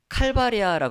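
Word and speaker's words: Calvaria: 그리고 라틴어로는 해골을 칼바리아라고 합니다. 칼바리아. 우리식으로 발음을 하면은 갈바리가 됩니다.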